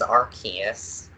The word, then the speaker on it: Arceus: legendary zone although I've only heard it pronounced two different ways Arceus and Arceus which I think the enemy alternates between both but I think the verified way is Arceus Arceus is the way to say it anybody who says Arceus